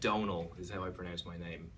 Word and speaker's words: Domhnall: that but it's that Donal which is like tonal but with the D instead of a T and the M is just there to confuse Americans as I was saying